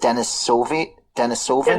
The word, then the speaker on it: Denisovans: And these, what do you pronounce it? Denisovans, is that it? Yes, they come from a cave that was called Denisova Cave.